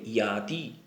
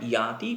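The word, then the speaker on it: যাতি: আরেকবার পড়ি, এখানে দেখো, লক্ষ্য করতে হবে জাতি, এই জাতি উচ্চারণটা হবে ইয়াতি, কারণ সংস্কৃতে জ বলে কোনো উচ্চারণ নেই বা সেটা ইয়া হিসাবে উচ্চারণ করতে হবে, ইয়াতি। বিদ্যা দদাতি বিনয়ং বিনয়াৎ ইয়াতি পাত্রতাম পাত্রত্বাৎ ধনমাপ্নোতি পাত্রত্বাৎ ধনমাপ্নোতি ধনাৎ ধর্মস্তত সুখম।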